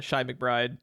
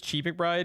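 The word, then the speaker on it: Chi McBride: from something is a shy McBride who apparently for 25 years people have been mispronouncing his name as Chief McBride because when you see Chi right you automatically assume Chi uh he it was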